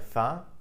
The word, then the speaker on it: faim: In French, vous avez faim, are you hungry? Note that faim, F-A-I-M, is pronounced as faim.